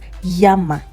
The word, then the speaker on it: llama: if you see a double L. In this case, the sound becomes like your Y, okay? So this word becomes llama. Llama. Can you try it? Llama. Muy bien. Llama. So the sound is like the Y that you have in yam.